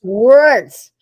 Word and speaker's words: Wirtz: automatically uh I'll say hello my name is wordss W rtz because no one can ever spell it or say it right and I don't want